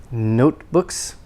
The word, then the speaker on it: notebooks: o note o notebook and the t is not released before another consonant usually no not no to book and the k is not released it's at the end of a word and before another consonant so not no to books but notebooks and the o is long notebooks and then the first